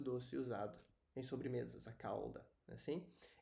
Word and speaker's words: calda: usado em sobremesas a calda assim em Portugal essa diferença de pronúncia Ela é bem acentuada eles se pronunciam mesmo o l como cauda então é